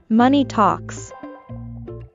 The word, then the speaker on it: money talks: basically money speaks volumes note that the O is an a sound also the ending s in talks is a s sound talks talks Money Talks Money Talks sadly money